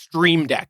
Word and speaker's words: Stream Deck: it's pronounced it's pronounced stream deck there's an r in there like a new street